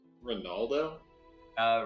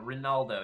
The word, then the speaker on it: Rinaldo: And I'll hand her a silver and I'll start heading over towards the when you say his name was Ronaldo? Rinaldo, yeah, I'll put in the chat here.